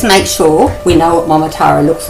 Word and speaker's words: Momotaro: sure we know what mamara looks like you ready to say it m m how many parts in that word four good four syllables m m and that